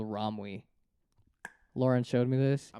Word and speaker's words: Romwe: Romwe, literally how it's spelled.